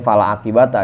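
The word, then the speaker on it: فلا عاقبة: Kebiasaan baca Quran wal aqibatu jadi fala akibat dah bacanya fala aqibata ya fala aqibata a la gonimata maka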